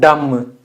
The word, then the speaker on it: dumb: B is silent.